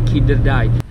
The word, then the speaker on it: Kinderdijk: Nah, cara bacanya Kinderdijk.